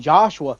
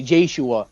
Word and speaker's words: Joshua: So instead of saying Joshua, they'll say Jashua.